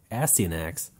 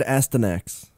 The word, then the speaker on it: Astyanax: There's another Jailco game, Astyanax. I always said Astyanax. Yeah, I think you are actually supposed to add that extra syllable in there. Astyanax.